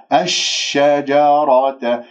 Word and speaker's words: الشجرة: من هذه إلى الشين، لأن لدينا همزة وصل واللاء مشمسية، لأن الشين من أحرف الشمسية وهي مشددة، إذن أنا ما راح أنطق هذه اللام. الشجرة، شين تهفشي، شين ساكنة ثم شين مفتوحة، الشجرة فتكون من الظالمين.